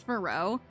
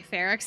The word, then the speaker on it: Ferox: I thought it was pronounced Faro. Like how you pronounce like faux fur, because that uses an X at the end. And so I was like, I thought that this was pronounced Faro, and then I found out it's actually Ferox, and I was really mad.